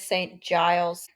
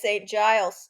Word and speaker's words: St Giles: St G's um we googled it it is St Giles I have been pronouncing it wrong you you pronounced a couple things wrong in the last 20 seconds it is St Giles luckily I think I've only said it about